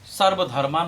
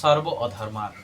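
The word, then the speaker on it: সর্বধর্মান্: এই কথাটা বলেছে, যদিও আমি সর্বধর্মান বলে না, সর্ব অধর্মান, কথাটা উচ্চারণটা এইভাবে। ধর্ম তো কখনো ত্যাগ করা যাবে না, অধর্মগুলিকে ত্যাগ করার জন্যই বলা হয়েছে, একটু টানের সাথে বলতে হবে।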